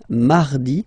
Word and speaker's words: mardi: lundy land then Miy Mardi so you can hear that you don't pronounce it that strongly this air m okay you